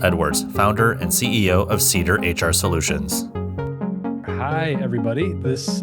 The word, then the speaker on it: CEDR: Did I pronounce it CEDR, right?